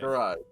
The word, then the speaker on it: Garai: Garai. Probably run I- after. I put a little Scottish Welsh roll in there, so it's Garai.